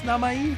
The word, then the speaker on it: Namai: If it's proper Japanese pronunciation, I think it is Namai, but Rando is better at pronunciation than I am.